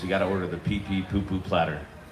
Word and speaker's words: pipi: Yeah, it's pronounced pipi.